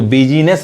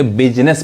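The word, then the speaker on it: business: अब यहाँ देखिए, यहाँ पे जो आई है वो आई खामोश है, चुप है, नहीं पढ़ाएगा, साइलेंट है, यानी इसको बिजनेस नहीं कहेंगे, बिजनेस पढ़ेंगे।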